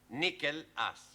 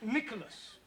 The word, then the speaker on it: Nicholas: upon a times there was a man called nickel ass that's not quite right no no once upon a time there was a woman called Nicholas it's pronounced Nicholas all right once upon a time there was